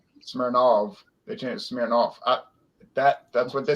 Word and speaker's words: Smirnov: the united states and they changed the name to of instead of ov it was s-m-i-r-n-o-v smirnov they changed smearing off that that's what they